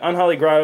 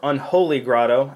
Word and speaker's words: Unholy Grotto: and herborg because I like Synergy bab bog Unholy grot is a really cool card or Unholy Grotto as it's properly pronounced uh yeah it puts a z a